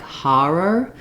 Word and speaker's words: horror: So you may hear around you, depending on where you are, you may hear a little bit more like Har-er. This is an okay pronunciation if in the region that you're speaking, people use it. But typically, for most areas of the US, an or is used in these words. So rather than Har-er, you might want to go for horror.